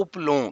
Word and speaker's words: اپلوں: تو پہلا لفظ ہے اپلوں، یعنی الف پہ پیش، پہ جزم اور لام پہ پیش، واؤ پہ جزم اور یہ نون گنا جو ہے اس پہ بھی جزم، اپلوں۔ اگلا لفظ ہے سوندھی،